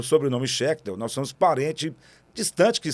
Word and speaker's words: Schechtel: Só que o nome dele é Sidney Schechtel. Igualzinho escreve, né? Só a pronúncia que é diferente, porque esse CH aí tem som de R no meio, né? Schechtel.